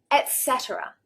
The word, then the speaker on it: etc.: Etc., etc. It is not etc., etc. with a k, an X there. That's not how we say it, etc., etc.